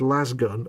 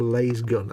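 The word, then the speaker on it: lasgun: the people can't agree whether it's last gun or lay's gun and i think ladies guns sounds stupid a bit like jiff it just sounds wrong last gun sounds much better so if ever you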